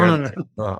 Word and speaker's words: Teilhard: And both about your teacher and thank you for also correcting my pronunciation of Oh, Teilhard.